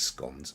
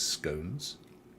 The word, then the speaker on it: scone: nappies we call them and it is scones mind you having said that depends on where you are in the united kingdom because there is i think london folk do pronounce it as scones but um down here in devon where they are famous for coming from we call them scones i think it's an